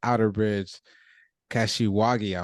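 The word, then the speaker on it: Outerbridge–Kashiwagi: read about the or or hear about the Outerbridge kashiwagi I might have mispronounce that procedure so when do we you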